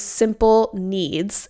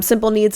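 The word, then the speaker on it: Simple Kneads: online and then another really good option is simple needs and it's spelled like k n e a DS so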